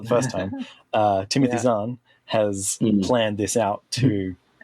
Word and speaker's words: Zahn: Timothy Zahn has planned this out to to build that plot through this trilogy.